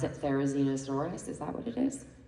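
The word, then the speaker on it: Therizinosaurus: Can someone here pronounce it? Therainosaurus.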